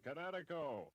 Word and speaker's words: Kinetico: you should have remembered kinetic is in kinetic energy with an O on the end Kinetico try a kineo for